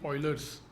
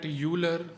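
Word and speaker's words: Euler: third property called the Oilers's theorem. Third is Oilers's theorem. So some people call it Uler but it's the name of the famous mathematician and it's actually pronounced Oiler.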